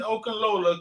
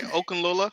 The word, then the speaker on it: Okunlola: Listen, if you're just getting in here, Samson Okunlola commits to the university. How you say his name, Rich? You the only one in here with degrees. I got a associate degree. You said it right, Okunlola.